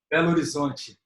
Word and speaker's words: Belo Horizonte: From your city, I can never pronounce it right. It's Belo Horizonte? Belo Horizonte.